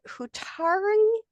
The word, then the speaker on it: Hutari: Neil is with us and he's going to share a little bit of his book and it's called Hutari San of Prophet and Crown. Did I pronounce that right, Donovan?